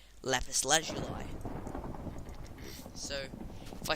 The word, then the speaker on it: lapis lazuli: myself one piece of lapis lazuli it's actually pronounced lapis lazuli so if i say lapis lazuli instead of